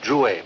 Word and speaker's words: Drouet: It's pronounced Drouet. My father was French. Charles S. Drouet.